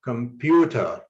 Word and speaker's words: computer: Or let's say computer. Again, you highlight the second syllable pew to show that the stress should be on this syllable.